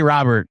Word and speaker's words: Robert: Mets trading for Luis Robert Jr. Am I saying it wrong? Yes. It's Robert. It's not Rober. Did I make it French for no reason whatsoever?